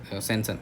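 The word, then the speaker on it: sanction: सेंक्शन, पास कर दिए, सेक्शन कर दिए, सेंसन, सेक्शन नॉट सेक्शन, इट्स सेंसन, okay.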